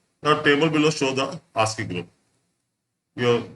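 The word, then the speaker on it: ASCII: code for information interchange pronounced as asking is widely using Alpha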